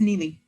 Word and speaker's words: Neely: Yeah, one of the things that came up when I was listening to Gina and, do I pronounce that Neely? Neely? Yeah, it's Neely. Neely, okay.